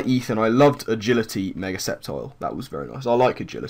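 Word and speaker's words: Sceptile: in the form of Mega septile that's that's how you say it Ethan it's it's septile uh I think he's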